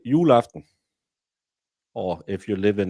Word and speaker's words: juleaften: Normally, we just pronounce the beginning, and then we'll just trail off for the end. So it's like Christmas Eve, where you say Christmas Eve. We say juleaften.